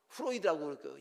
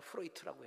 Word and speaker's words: 프로이트: 이 정신과를 시작한, 발전시킨 프로이트라고 하는, 프로이드라고 영어식으로 발음하죠. 독일어 발음이나 프로이트라고 해야 되는데, 그 프로이드라는 그 의학자가 그런 얘기했습니다.